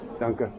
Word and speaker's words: Danke: How do you say thank you? Danke. Donka. I said donka.